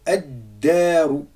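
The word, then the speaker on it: الدار: Ici, on fait la même chose avec ad-daru.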